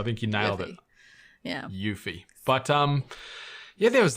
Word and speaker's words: Yuffie: us all it's yeah yuffie is how you pronounce it so I think you nailed it yeah yuffie but um yeah there